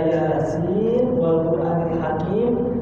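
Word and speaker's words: يس والقرآن الحكيم: ada dua cara baca pertama dibaca izhar atau jelas Yasin Wal quranil Hakim Nik benar dibaca jelas ketika dibaca wasal atau lanjut jadi dari ayat pertama menyambung ayat kedua dibaca jelas Kedua dibaca iidam yasinal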